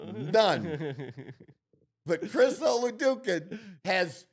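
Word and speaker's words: Chris Oladokun: Chris Oladukin. Is that what did I pronounce it right?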